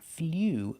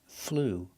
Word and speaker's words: flew: Not flew, but flew. It's the ooh sound, the long ooh.